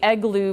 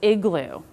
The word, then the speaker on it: igloo: it a lot I kids may say egloo versus Igloo for you teaching it